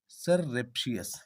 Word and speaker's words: surreptitious: Our sixth word is सररेप्शियस. सररेप्शियस. Okay, सररेप्शियस जिसका spelling है SURREPTITIOUS.